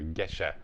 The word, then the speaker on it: Gesha: Jardine and it is a Geisha variety or Geshe variety is really probably the way that it's pronounced if you've looked into